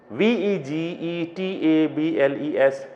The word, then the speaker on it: vegetables: And here see, V-E-G-E-T-A-B-L-E-S, it's not vegetable. I have told you this one earlier, that the pronunciation of this word is not vegetable, it's table, vegetables, okay, vegetables. Now let me again remind